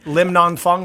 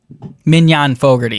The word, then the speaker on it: Mignon Fogarty: Lim Non Fung or whatever. She's better branded as the grammar girl, and she's just great about putting grammar-related content out. So contrary to the gross mispronunciation of her name, she's actually Irish. She's not from the Orient. Mignon Fogarty. Is that right? Yeah, Wow. that's right.